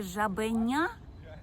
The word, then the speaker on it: жабеня: наголос на цьому складі у слові жабеня я гучніше вимовляю третій склад жабеня наголошені склади у